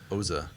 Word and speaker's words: Oza: I'm seeing this one, which is it Oza or Oxa? What's that pronounced? Oza.